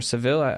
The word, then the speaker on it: Sevilla: Him and his family are in Spain right now, in Sevilla or Seville. I'm not sure how you would pronounce it. Sevilla. Sevilla, with an A? Sevilla. Okay. The double L is Sevilla.